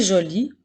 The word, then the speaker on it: jolie: nous avons mon frère joli au masculin qui ne prend pas de lettres muette et jolie au féminin qui lui doit prendre une lettre muette bravo tu as maintenant